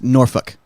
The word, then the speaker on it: Norfolk: And everybody, not messing with me, it's Norfolk.